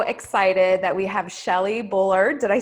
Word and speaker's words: Bullard: i am so excited that we have shelly bullard did i say that right i didn't even